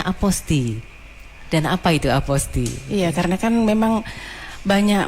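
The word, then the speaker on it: apostille: Kenapa saya harus membacanya aposti dan apa itu aposti? Iya. Karena kan memang banyak masyarakat itu ee ada yang pengucapannya apostile ya atau apostil gitu, tapi kita lebih ee ee mengharuskan untuk aposti gitu.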